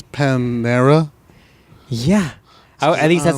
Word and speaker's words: Panera: I apparently say it wrong. Yeah, there are a few letters in there that are not on that labeling right there. I say Paneria. Yeah, where's the fucking I, dog? It's Panera.